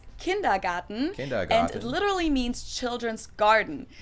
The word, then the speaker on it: Kindergarten: that is kindergarten yes in German we pronounce it kindergarten it literally means children's